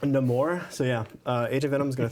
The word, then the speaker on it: Namor: it's pronounced Namor. No more.